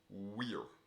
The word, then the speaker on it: vir: mass given is pronounced we're the V is pronounced like a w um for virtue there